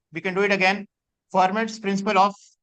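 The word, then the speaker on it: Fermat: can do it again formats principle of it's actually for ma T is silent but that's okay all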